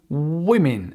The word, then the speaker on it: women: One woman, two women. Attention à la prononciation. Women.